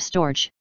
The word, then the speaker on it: storge: they're not clever enough the Greeks called This Love storge two syllables and the g is hard I shall here call